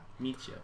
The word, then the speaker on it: Mitja: Mitja. Yeah. It's not a J. It's like a Y.